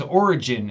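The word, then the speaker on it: Origen: but his name is origin it is spelled with a GE I in but it's just like the word origin like beginning an origin like believed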